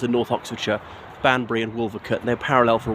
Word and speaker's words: Wolvercote: So yeah, Wolvercote, it's W-O-L-V-E-R-C-O-T-E, but usually pronounced Wolvercote, not Wolvercote.